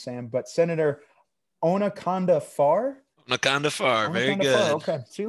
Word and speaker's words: Onaconda Farr: She meets with the Rhodian senator, and I'm gonna mispronounce it, so you got to help me with this, Sam. But Senator Onaconda Farr. Onaconda Farr, very good.